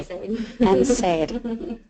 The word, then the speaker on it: NSAID: NSAID.